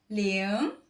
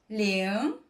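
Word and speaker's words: 零: connaître pour dire zéro on dit léon léon avec le deuxème ton léon et puis quand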